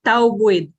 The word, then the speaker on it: Taubuid: Okay, Taubuid. Yung tau Taubuid. ay cognate ng tao, tapos yung buid naman ay cognate ng bukid.